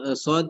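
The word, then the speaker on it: ص: যেমন যেমন আমরা যখন যদি উস্তাদ সদ দিয়ে বলি, যেমন সদ যখন উচ্চারণ করি আমরা, সদের মাখরাজ হচ্ছে উম জিহ্বার আগা আর সামনের দাঁতের সামনের নিচের দাঁতের আগার সাথে লাগিয়ে সদ উচ্চারিত হবে।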